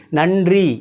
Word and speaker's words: நன்றி: கலந்த மாதிரி ஒன்னு எழுதுறேன் நம்ம பொதுவா என்ன சொல்லுவோம் இந்த நன்றி நம்ம பாருங்க நன்றி நன்றி பொதுவாவே எப்படி சொல்லுவோம் நன்றி நா இன்றி ஆக்சுவலா நம்ம உச்சரிக்கிறது என்ன உச்சரிக்கிறோம் அப்படின்னா நா இன் ன்றி அப்படித்தான் மேக்ஸிமம் நம்ம சொல்றோம் நன்றி நன்றிதான் நம்ம மேக்ஸிமம் சொல்றது அது நன்றி நன்றி நன்றி ட்ரி வந்து ரி அங்க இருந்து வரணும் ட்ரி ட்ரி நன்றி அப்படித்தான் சொல்லணும் சோ இது நன்றி நன்றி இது